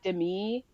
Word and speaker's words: Demi: Well, actually her name is pronounced like Demi.